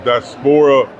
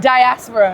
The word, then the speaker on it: Diaspora: We have Ria, Racia, Reia, and Malikica with Daspora Experience. Did I say it right? Yeah. That's close enough. No, no, no, no. We ain't close enough. We What is it? Diaspora. Diaspora. Diaspora experience.